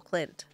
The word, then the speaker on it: Clint: No, Clint. Rhymes with Flint.